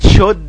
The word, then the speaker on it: should: وكلمة would ال ال هنا silent، وكلمة should ال ال silent، و could ال ال silent، silent يعني ما بتنطقش، و may و might، must و to.